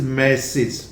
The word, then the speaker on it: massage: वन इज MESSAGE, basically this is मैसेज, नॉट मैसेज, पर मैंने देखा है कि ज्यादातर लोग इसे मैसेज ही लिखते हैं।